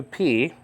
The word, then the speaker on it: pi: whatever it was okay but don't say pie in the movie of Alfred Hitchcock a torn curtain they pronounced it pie Dulce pie say p okay uh some say that